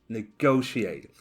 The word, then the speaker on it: negotiate: particularly difficult negotiate negotiate so the stress is on the second syllable negotiate and the noun negotiation negotiation